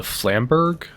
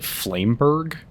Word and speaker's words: flamberge: Uh I believe it's called the flamberg. I always uh pronounced it flameberg. Uh that is absolutely incorrect.